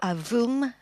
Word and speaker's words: AVUM: We call it the AVUM, or AVUM, pronounced in French, getting ready to switch on its engine.